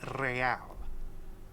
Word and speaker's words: real: You owe me 130 real. He pronounces the R with a mock aristocratic accent.